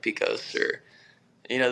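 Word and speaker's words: Pecos: things in Texas which I would say I'm pronouncing them correctly like uh pus that's Picos oh yeah uh what is it uh uh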